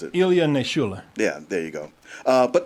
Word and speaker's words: Ilya Naishuller: Yeah, his name is I wasn't going to try to pronounce it. Ilya Naishuller.